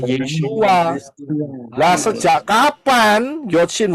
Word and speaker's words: Yeshua: Nah, problemnya, apakah Yod Shin Waw Ayin ini bisa dibaca atau diucapkan Yesus? Tidak. Tidak, Pak. Ya, Pak. Tidak. Jelas tidak, nggak bisa. Karena Yod Shin Waw Ayin itu bacanya, pronounsnya, pengucapannya adalah Yeshua.